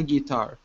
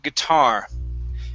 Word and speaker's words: guitar: All right, so let's go to the word guitar. Okay, so instead of saying guitar using a long E, we want to use a short I.